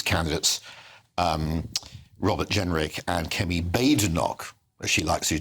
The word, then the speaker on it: Badenoch: as she likes to, does not like to be called Badenoch or Bad Enoch. I should let you know it's Badenoch is the way she likes her name to be pronounced.